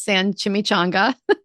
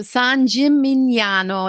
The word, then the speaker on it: San Gimignano: My mom says San Chimichanga. My mom kills Italian. It's so bad. So, San Gimignano. It's got the GN. It's going to mess with your head, but just just Jim-in-yano.